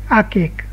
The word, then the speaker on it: archaic: okay archive okay okay archaic okay you pronounce like arcade very old or Old